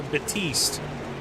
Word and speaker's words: Batiste: So Batiste. All right, Donnie Batiste. All right. So it's like Batista, you know, without the A at the end.